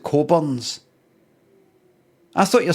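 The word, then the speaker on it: Cockburn's: There's an advert in the 80s for that booze called Cockburns, but you pronounce it Coburns.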